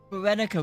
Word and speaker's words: Berenica: Berenica, we finally learned how to pronounce her name.